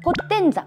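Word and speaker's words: POTENZA: ポット違う、ピットポッ、ポッテンザ、ポッテンザ、ポッポッポッテ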